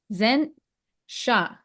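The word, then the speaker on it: Zain Shah: Today's guest is Zen Shah.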